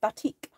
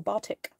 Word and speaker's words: batik: in the style of batik or bartik depending how you pronounce it my phone is telling